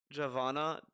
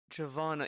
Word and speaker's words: Giovanna: legit he just said did you know that Giovanna is pronounced Giovanna Giovanna I I thought javana yeah I guess so